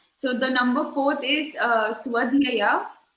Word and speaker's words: Swadhyaya: So the number 4th is Swadhyaya.